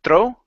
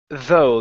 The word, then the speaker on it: though: uh the word though instead of Thro it's though there's no R here though though okay right